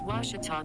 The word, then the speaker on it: Ouachita: would you pronounce it it's washita baptist university get it right it's water tall people let's watch it all and we are